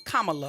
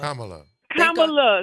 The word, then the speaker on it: Kamala: I'm telling you to pronounce her name correctly her name is Kamala Kamala see okay thank you